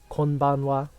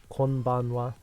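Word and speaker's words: こんばんは: Konbanwa. Konbanwa.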